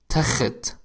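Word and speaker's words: تخت: By in contrast, the next word is takhat with Kha, which means bed.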